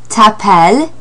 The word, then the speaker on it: t'appelles: Tu t'appelles, and the S is silent at the end of t'appelles.